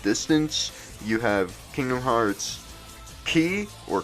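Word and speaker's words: χ: you have kingdom hearts key or chi it's like an x and an i but you're supposed to pronounce it like key or kai or something like that and that's like a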